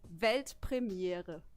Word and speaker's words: Weltpremiere: It's actually Weltpremiere. Pretty similar, I right? Ojo, I could do that. sneak peek, Yeah, do world it. premiere. Weltpremiere.